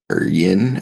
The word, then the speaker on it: Ynne: You think that last one is pronounced Ian or Yin, or how do you think that's pronounced? No. YNNE. Ian.